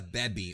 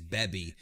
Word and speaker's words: Baby: this form as Vegeta beby or Vegeta baby if you watch some of my old videos I actually refer to baby as beby because I went with the Japanese pronunciation but it's really the